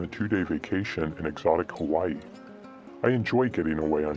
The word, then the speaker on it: Hawaii: This was my first trip to Hawaii, pronounced Hawaii, and I was particularly excited about one of our planned excursions, swimming with dolphins.